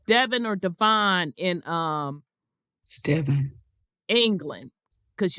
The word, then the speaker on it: Devon: used to print they used to pronounce it Devin because I watched I watched uh a lot of their um you know their home shows so it is Devin uh-huh I'm refurbishing castles